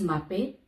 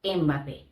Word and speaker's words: Mbappé: Es Mbappé o Mbappé. Kilian Mbappé. Pero, ¿por qué todo el mundo dice Mbappé? La E inicial es una prótesis para la boca que se usa por una incapacidad articulatoria temporal que te impide pronunciar